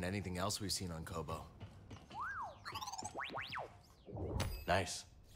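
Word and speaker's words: Koboh: else we've seen on Kobo nice if I've been pronouncing this place Koba all this time it's Kobo if there is no a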